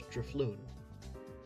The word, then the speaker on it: Drifloon: Well, it's kind of like drift, but instead of the T, you get fluon, like balloon. So, it's DFloon.